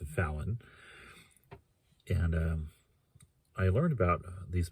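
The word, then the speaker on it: Vauen: Fallon is V-A-U-E-N. I've heard it's pronounced Fallon.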